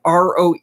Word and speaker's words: Caroe: It's Caroe. Hopefully I'm pronouncing it properly. It's almost like row. Yeah. It's just got a "k" in front of it. Yeah, and no W. Careau. And no W. Yeah. Hey, Josh Cohen.